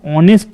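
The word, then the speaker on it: honest: বিষয় দেখো এখানে এান অনেস্ট ম্যান এইচ এর এখানেও কিন্তু এইচ সাউন্ডটা সাইলেন্ট আছে ওকে ইম্পর্টেন্ট রুল এখানে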